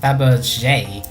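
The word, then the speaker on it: Fabergé: showing actually I think it's supposed to be pronounced Faberge I remember my French correctly if you have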